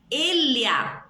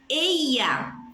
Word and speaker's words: ella: Elia, como se fosse LH. Elia. Eia, como se fosse um I. Eia. Eja. J. Eja. Exa, como se fosse um X.